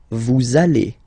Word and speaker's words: vous allez: Same thing here. We'll have this little link between the two. Vous allez.